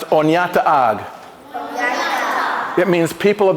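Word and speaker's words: Oneida: is the word Onida in the Unida language pronounced onata on it means people of the standing Stone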